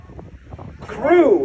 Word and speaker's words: CRW: CREW is how you pronounce the acronym CRW, which stands for Canopy Relative Work.